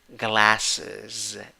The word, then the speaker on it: glasses: How do you pronounce this? Glasses.